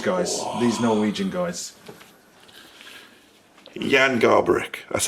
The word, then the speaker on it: Garbarek: Jan Garbarek, that's how you say it. Is it? Jan Garbarek. I say Garbarek.